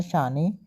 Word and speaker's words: Shane: मतलब कि जो है जो बेटा था उसका नाम था शाने, मतलब शाने या फिर शेन कह लो, एस की स्पेलिंग है SHANE।